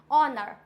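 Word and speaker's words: honour: ओ पे आए हैं ऑनर for example ऑनर आवर क्या होता है ऑनेस्ट ऑनर आवर ख क्लियर हुआ ये वर्ड्स ऐसे हैं जिसमें एच होता है साइलेंट डन आगे बढ़ते हैं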